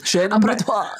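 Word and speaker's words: chaîne opératoire: Chain abattoir.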